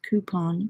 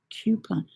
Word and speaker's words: coupon: It's like in the UK, we pronounce coupon as coupon, but in Florida, they pronounce it coupon.